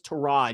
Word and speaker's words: Tyrod: player, everyone called him Tyrod. And he's like, oh, no, it's Tyrod. You've been saying it wrong the whole time.